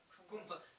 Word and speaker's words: Kumbh: So when you see Kumbh Mela, millions of people, you know, things.